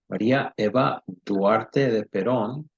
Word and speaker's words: Maria Eva Duarte de Perón: Maria Eva Duarte de Perón, which is the Spanish pronunciation. English is Maria Eva Duarte.